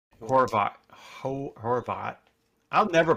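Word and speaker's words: Horvat: Chris Theofield was was complaining about Bo Hovart. Horvot Horvot. I'll never pronounce his name properly.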